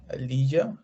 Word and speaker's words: Elijah: Okay, we have another question from Elijah, if I pronounce it correctly. Yeah, that's correct. Yep. So I'm Elijah, and I'm currently with OneWeb with the Technology Innovation Group.